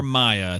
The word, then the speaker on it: Mia: That's for listening from to the Mia show. or Maya. It's MIA. I know it can be pronounced either way.